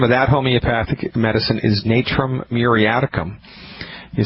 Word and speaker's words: Natrum muriaticum: and the name of that homeopathic medicine is Natura muriaticum you spell that n like the NCAA like Thomas are